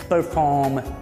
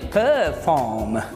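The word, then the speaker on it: perform: ये परफॉर्म लिखा मैंने, आर नहीं लिखा क्योंकि ब्रिटिश इंग्लिश में आर स्किप कर देते हैं, अमेरिकन में प्रोनाउंस किया जाता है, अमेरिकन इंग्लिश में, ठीक है, परफॉर्म, ब्रिटिश इंग्लिश में परफॉर्म, ठीक।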